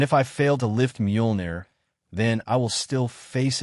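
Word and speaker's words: Mjolnir: So trust me, you'll be able to lift Muner. It's Muolnir, Darcy whispered. I learned how to say it.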